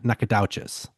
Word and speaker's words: Nacogdoches: um how they're written, you would think you would pronounce them similarly. Yeah. You don't. So they're not even close. Nakat and Nakadas or uh Nakad. Yeah. Nakades.